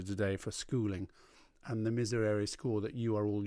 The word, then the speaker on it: Miserere: Now remember, bright Italianate. Miserere.